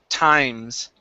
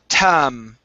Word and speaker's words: times: Now, here, this is a long I sound. When we pronounce the long I, it is an I sound. So this is times. Try that. Times. Times. Okay, so here Times. you're saying tam.